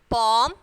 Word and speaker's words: palm: Walk, talk. So L is silent here. Palm, cough. So when you are pronouncing this word, L should be silent.